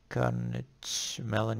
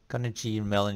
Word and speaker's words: Carnegie Mellon: not get up so you what is this carnage mellon university can Negin incarnate how do you say that Carnegie Mellon University okay you can read a lot of